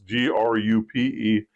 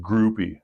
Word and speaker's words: Grupe: But historically, locally, it's always pronounced Groupie.